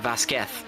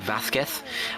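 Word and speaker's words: Vázquez: uh in his name should also be pronounced as a kind of like the English th, uh making it more like Vazquez.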